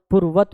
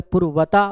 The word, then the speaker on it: पूर्वत: Actually में संस्कृत को जब प्रोनाउंस किया जाता है तो ए को साइलेंट माना जाता है। जैसे वेद होता है वेदा नहीं होता, जैसे योग होता है योगा नहीं होता, उसी तरीके से पूर्वता नहीं होता पूर्वत होता है, ठीक है।